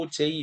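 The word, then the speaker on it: Auger: 세 번째 커뮤니케이션 과정입니다 발음을 잘해야 되는데요 오거가 아니고 oj 리컴비네이션이라고 하면 됩니다 oj 리커미네이션인데요 이건 뭐냐면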